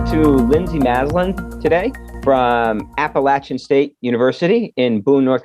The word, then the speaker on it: Appalachian: a gold star for pronouncing appalachian correctly it's not appellation it is appalachian so good job well